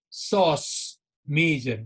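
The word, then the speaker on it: psoas major: from my lumbar vertebrae and that is the sauce major guys we pronounce it with p so this is so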